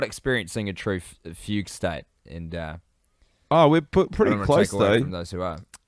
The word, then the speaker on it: fugue: Is it a fugue state?